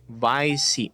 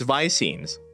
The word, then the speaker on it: visemes: Rhymes with I-seam. Viseam. See, I'm correct. It's visemes.